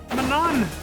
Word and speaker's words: Manon: Manon. That's closer to how you said you're supposed to pronounce her name, right? Manon or something? Yeah. All the voice actors say Manon, yeah.